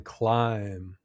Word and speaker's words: climb: But watch out, because the B is sometimes silent too, like in climb.